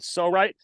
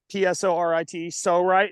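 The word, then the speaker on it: Psorite: There's this company called Sorite. It's spelled P-S-O-R-I-T-E, Sorite, and it's made as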